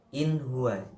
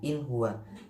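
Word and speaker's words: إخوان: mati ketemu in gua inhwan jelasnya Ikhwan Jangan dibaca inhwa itu salah kurang benar ya Salah bacanya Ikhwan atau Yan sauna Yan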